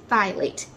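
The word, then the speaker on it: phthalates: seventh ingredient that we want to avoid is thylate that is spelled p-h-t-h-a-l-a-t-e-s the reason why we want to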